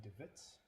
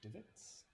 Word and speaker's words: DeWitt: my name is devitt pronounced divots like the um hole in the grass did you leave me